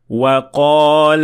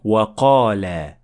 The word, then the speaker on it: وَقَالَ: That is not correct, because we need to drop the alif at the end of the word وَقَالَ.